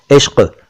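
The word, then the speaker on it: इश्क़: इश्क एक शब्द है, पिछले एपिसोड्स में कई बार आपको बताया है कि ये इश्क है, इश्क या इश्क नहीं है। क के नीचे डॉट है, बिंदु है, नुक्ता है, इश्क।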